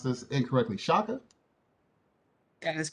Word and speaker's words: Chaka: tonight's speaker maya please tell me if i pronounce this incorrectly shaka that is correct okay maya shaka is a